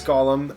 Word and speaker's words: golem: it could actually but it's not it's it's gollum and um it's based on of course uh